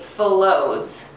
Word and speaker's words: phyllodes: And they're going to be found in pods, also called phyllodes. Everyone say that with me, phyllodes. Very good. And we spell that P-H-Y-L-L-O-D-E-S.